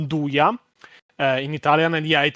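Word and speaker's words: 'nduja: It is pronounced dua in Italian.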